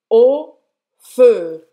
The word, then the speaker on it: au feu: Você vai fazer a boca do O e falar o feu. O feu. Esse A-U-X é só o som do O.